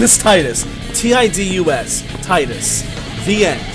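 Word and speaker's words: Tidus: you it's Titus it's not tetus I don't care what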